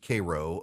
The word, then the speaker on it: Cairo: it's Lafayette uh and there's a Cairo Georgia but it's pronounced Koo um and it just